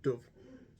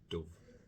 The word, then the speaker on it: dove: have just started but Dove is pronounced with a short u so an short o sound Dove okay o Dove and